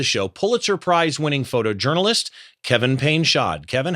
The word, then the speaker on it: Painchaud: Please welcome to the show Pulitzer Prizewinning photojournalist Kevin Payshod.